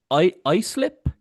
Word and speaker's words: Islip: You were born on Long Island, and I was looking up East Islip.